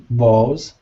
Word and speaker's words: bowl: It's exactly like saying, oh, hi there. Oh, bowl. It just has a little w at the end, but that's it.